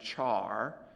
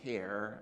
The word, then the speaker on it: char: Some people pronounce that char, and I guess that's fine, and so they call this char at. I prefer care and care at.